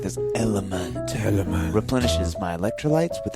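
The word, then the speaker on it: LMNT: no no no it's it's the letters l m n t and it's pronounced element element okay see I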